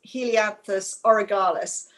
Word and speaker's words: Helianthus orgyalis: This one is Helianthus orgyalis. Don't pronounce it incorrectly because it sounds like an orgy.